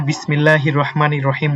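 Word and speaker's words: بسم الله الرحمن الرحيم: ঠিক আছে এই সাকেন উচ্চারণগুলো কি এখানে কিন্তু থামা যাবে না এখানে কোন টান নাই ঠিক আছে আমরা বিসমিল্লাহির রাহমানির রাহিম এখানে বিসমিল্লাহির রাহমানির রাহিম এভাবে পড়তে হবে যে এখানে যে সাকিনটা রয়েছে এখানে টানার কোন সুযোগ নাই ঠিক আছে তারপর দেখেন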